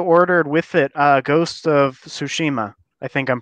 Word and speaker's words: Tsushima: Yeah, I also ordered with it Ghost of Tsushima. I think I'm pronouncing that right. Oh. Yeah, Ghost of Tsushima.